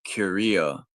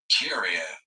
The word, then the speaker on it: Curia: The Pope is generally assisted in his Korea or Korea.